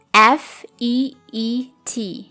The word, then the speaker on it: feet: Spelling dari kata ini adalah F-E-E-T. Dan cara membacanya adalah feet. Simbol I dengan titik 2 itu adalah I panjang, sehingga dibacanya feet.